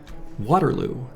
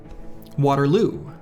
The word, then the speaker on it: Waterloo: The difference is in the emphasis. I put accent on the wrong syllable. Waterloo. Waterloo. If your native language doesn't have strong stressing, they might just sound the same. But to me, they're a world apart.